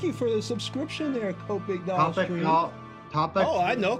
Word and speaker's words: Copic: Yeah, Copic. I said it wrong. It's Copic.